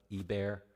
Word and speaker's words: Eber: Eber is Hebrew. Okay, so the sons of Eber is how it would be pronounced.